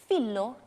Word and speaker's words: phyllo: this popular Greek cheesy Phyllo Twirls. Phyllo Twirls is how you say it, right? The Greek way is Phyllo pastry. Phyllo pastry. South Africans, we like to say phyllo pastry, phyllo, as long as it is